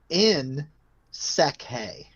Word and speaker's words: Nsekhe: So it's Nsekhe. Nsekhe. Ty Nsekhe. I'm gonna put the pronunciation of his last name here in the chat.